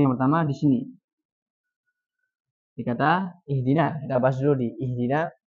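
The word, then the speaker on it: اهدنا: Jadi yang pertama, kesalahan khafi yang pertama di sini dikata ihdina. Kita bahas dulu di ihdina yang harusnya dibaca i. Dia bacanya gimana?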